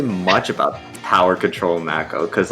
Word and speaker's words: Mako: Yes, it's pronounced Mako. I don't care what anybody else thinks. I say Mako, so. It is Mako. Because we are talking about the Mako shark.